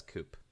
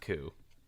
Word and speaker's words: coup: I still read that as coop. Even though I know it's pronounced coup. I still say coop.